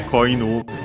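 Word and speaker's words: 子犬: But yeah, koinu, inu, accent on the last syllable on its own means dog. Koinu becomes an accent, so be careful.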